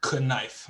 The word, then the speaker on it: knife: have silent letters and a lot of different countries don't have that. So that's why like knife, for example. Knife. I mean, but that's simple. You spell it like you spell like knuckles, right?